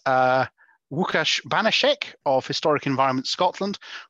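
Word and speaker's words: Łukasz: you, and it's really nice to hear my name pronounced like a Polish native speaker. But of course, for those of you who do not have as strong connection to Poland as Matt, it's simply.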